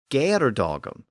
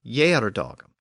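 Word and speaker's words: geardagum: can reasonably conclude that the original poet pronounced the word with a G sound when he sung it to his audience so it was G dogum not the later and more traditional Y dogum and the reason why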